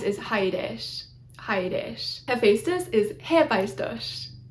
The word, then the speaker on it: Hephaestus: Hephaestus is Hephaestus, Hephaestus. It looks like an H at the beginning. It's not an H, it's a capital eta, which is the long E sound, so Hephaestus.